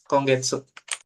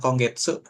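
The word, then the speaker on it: 今月: Kongetsu. Bulan ini ya? Heeh. Bulan ini ya. Konggetsu cara bacanya ima sama suki jadinya kongetsu.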